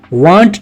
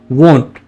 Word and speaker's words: want: ओ वाली साउंड आनी चाहिए, ना कि आ वाली साउंड आनी चाहिए। वॉन्ट ना कि वांट।